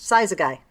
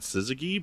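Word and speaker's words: Syzygy: to say it and I've always said Suzigi, but I have no idea. I did not know either until a friend of mine uh told me that that was how it was supposed to be pronounced.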